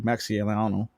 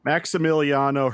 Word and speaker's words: Maximiliano: forth um right i got to talk to maxielano i'm saying i'm saying it wrong maxie i just say max maximiliano hernandez thank you that i just i just